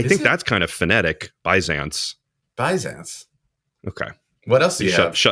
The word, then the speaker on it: Byzance: Anyway, and then Meinl, someone made the comment, and I could not find a clip of a pronunciation, but the Byzance series. Byzance.